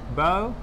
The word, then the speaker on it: borough: So, borough. You are not going to pronounce the G or the H. Rather, it is silent.